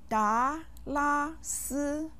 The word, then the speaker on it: 达拉斯: 达拉斯. 达拉斯. 达拉斯. Did you get it? This name has how many syllables? Good. It has 3. Da with the second tone, la with the first tone, and si with the first tone.